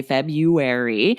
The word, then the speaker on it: February: doesn't sound like that we say february or that sounds like there's no r after the b at all so if you do